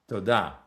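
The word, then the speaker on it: תודה: Todah.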